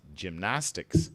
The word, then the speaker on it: gymnastics: gymnastics tick sticks yeah don't stress the lasts it should be like this gymnastics the stress is on the nas nas gymnastics tracy [clears